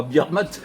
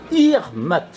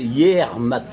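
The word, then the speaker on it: Yec'hed mat: Non, pas Birmat. Irmat. Prononcé intégralement, c'est Yermat. Mais Irmat, on dit. On contracte Irmat en breton.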